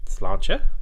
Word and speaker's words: Sláinte: Sláinte. That's the correct pronunciation, I believe.